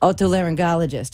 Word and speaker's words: otolaryngologist: the learning ecology Oh what they learned ologists otolaryngologist okay it's not so hard once you hear